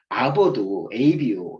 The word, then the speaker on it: Abo: 우리가 아보도, ABO 있잖아요. 이게 아보예요, 아보. 그것도 정기구독의 약자가 아보잖아요, 아보. ABO를 읽지 않고 우리가 아보라고 읽는 건데, 이 AG도 찾아보니까 이게 주식회사의 약자더라고요, 주식회사.